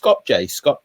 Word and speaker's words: Skopje: They can have the day off, and then followed by how's it pronounced? Skopje.